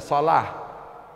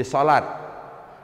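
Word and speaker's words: صلاة: Contoh misalnya sholah menjadi sholat, jum'ah menjadi jum'at. Sebenarnya bukan jum'ah, karena ta marbuthah. Sholah. Ta marbuthah. Kalau kita berhenti bacanya ha, ya, bukan ta.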